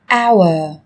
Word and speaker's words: hour: Trong tiếng Anh cũng có một số từ mà cách viết chúng ta thấy xuất hiện chữ cái h, nhưng khi phát âm thì chúng ta lại không cần phải phát âm âm này, người ta còn gọi là âm h câm.